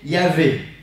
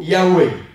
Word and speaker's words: Yahvé: C'est pour ça qu'on peut mettre soit un V, soit un W.